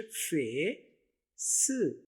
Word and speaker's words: face: तो ये उर्दू में देखिए फे स, इंग्लिश में फेस, फेस।